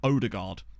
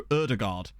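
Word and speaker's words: Ødegaard: Something else I also find quite funny is people pronouncing half of a player's name right and then the other half incorrectly. You see it all the time with Odegaard. Sorry, no, Erdegaard, for example, which I really do enjoy.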